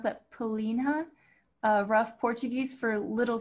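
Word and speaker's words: pelinha: interesting i'm not sure how to pronounce that pelina uh rough portuguese for little skin or skin cutie marissa would you like to give us the pronunciation for that it's pelina yeah so it's like that it's kind of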